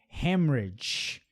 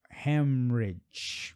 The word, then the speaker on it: hemorrhage: Hemorrhage. Aqui, ó. Hemorrhage. É o som do R mesmo, ok?